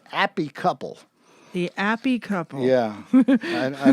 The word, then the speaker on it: Appy Couple: This one in proper British is Appy Couple.